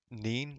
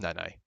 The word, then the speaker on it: Nene: Isn't Nene pronounced as Neen, like meme? No, no, I don't think there is. If um, Nah, it's definitely Nene, isn't it? Come on, it's Nene.